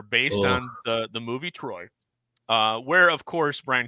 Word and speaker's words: Troy: volumes on this one film this is a troll I ha so much you no no it's it's pronounced Troy oh is it Troy yeah it's Troy not